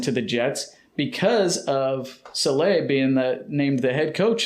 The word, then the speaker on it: Saleh: It's spelled S-A-L-E-H, so that makes me think Saleh. Oh. Saleh, but... Yeah, but it's not Slay. No, it's Saleh.